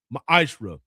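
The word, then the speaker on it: מעשר: You can find this in numbers 18- 21 in Malachi 3 8-10 means 10th in the Hebrew and is pronounced maishra.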